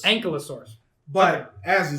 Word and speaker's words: Ankylosaurus: So how is it actually pronounced again? Ankylosaurus. Ankylosaurus.